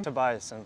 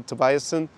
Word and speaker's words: Tobiassen: Tobiassen. Tobiassen, okay. Pronouncing a little bit too German-esque. So, Tobiassen.